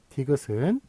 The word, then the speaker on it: 디귿: D는 발음대로 읽고, 요 다음에 요 말자 있죠? 말은 뜻으로 읽어라. 말은 뜻으로 읽어라. 그래서 디읒이 된 거예요. 디귿이 된 거예요. 디귿. 그래서 요거는 그 뜻으로, 긋으로 읽어라.